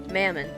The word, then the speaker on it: Mammon: Mammon, I was, wait, hold on, I'm gonna get the pronunciation. Wait, my volume's turned down on my phone. Mammon.